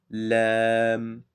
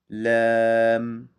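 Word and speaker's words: لام: So this letter is Laam, Laam, Laam, Laam. Just like in English, the L, the letter L.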